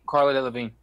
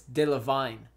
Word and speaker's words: Delevingne: she no Cara Delevingne you say her name Carla Carla delle Vigne it's dill of vine she probably loved vine